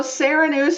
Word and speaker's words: Sarah Nuse: So it's just Sarah Nuse and I. Am I pronouncing that right? Yes, yes. Yay. So Sarah Nuse is the founder and CEO of Tippi Toes, a nationally recognized children's dance franchise.